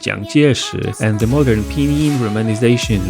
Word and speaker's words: 蔣介石: In Mandarin, his name is pronounced Jiang Jieshi, and the modern pinyin romanization looks completely different.